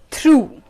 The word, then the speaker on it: through: So through is a word which has the pronunciation oo.